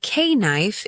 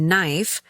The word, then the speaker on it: knife: But in English, many letters are silent. When you say k knife instead of knife or wright instead of